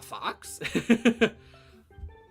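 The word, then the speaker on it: Faux: right is that yes it is pronounced Fox f-o-x but it is spelled f-a-u-x like foe like something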